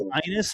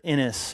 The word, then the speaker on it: Inus: Hey, my last name is Inus and people pronounce it Inis and I hate that.